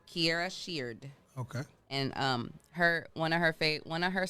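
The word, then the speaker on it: Kierra Sheard: I go to YouTube every single morning, and I go to Kiera Sheard. I think that's how you pronounce her name. And I go Kiara Shears. Kiera Sheard.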